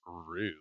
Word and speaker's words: R/B: Like Rube, which is R/B. Hate it. That's how you. I didn't know how to pronounce that in any way. Yep, it's Rube.